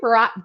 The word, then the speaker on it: Burack: But Burack, did I pronounce that right? Barack or? How you pronounce it? No, you got it right.